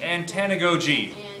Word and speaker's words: antanagoge: last organization and the one today is is pronounced antanagogi and tanagoji and let's get started there so